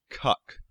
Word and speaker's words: Kek: one also worth noting it can also be pronounced cuck another coincidence and allegedly I haven't found documentation on this but the hieroglyphic spelling of kek and there's a whole